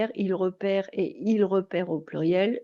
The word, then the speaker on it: repère: Et quand je parle du E muet, c'est tout simplement parce qu'en français, on a tendance à avoir comme une voyelle plutôt ouverte, repère, quand il y a un E muet.